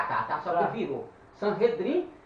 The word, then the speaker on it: Sanhedrin: Sanhedrin, pronuncia-se Sanhedrin, Assembleia Sentada.